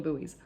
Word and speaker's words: buoy: I mean, Americans, correct me if I'm wrong, but I'm pretty sure they don't call them boys in the floating in the water. They call them buoys.